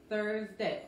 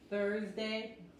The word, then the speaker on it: Thursday: Thursday. Otra vez, la S aquí se pronuncia como Thursday, se pronuncia como la Z de inglés.